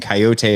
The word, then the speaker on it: Kaiyote: Yeah, so Hiatus Coyote, and Coyote is spelled Kaiyote.